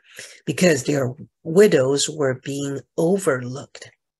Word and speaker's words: widow: 他们的寡妇 widow 是他们的寡妇哈，widow。注意不要发音成 windows 哈，这个没有 n 是 widows。